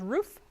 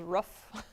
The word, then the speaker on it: roof: Yeah, you say it more with the sound. I say the ooh sound. Like spoon.